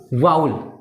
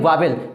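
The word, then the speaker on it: vowel: बहुत सारे लोग इसे पढ़ते हैं वावेल, जो कि इनकरेक्ट प्रोनाउंसिएशन माना जाता है। ब्रिटिश के अनुसार इसे आप क्या पढ़ेंगे? वाउल, ना कि वावेल।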